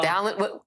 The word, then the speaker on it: Balint: are and congresswoman Becca balant Democrat from Vermont joins me now I want to first ask if I've pronounced your name correctly uh congresswoman I always say balent rides with Talent so balent and that's I love